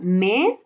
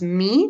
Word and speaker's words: me: We have me. This is not pronounced me, but me.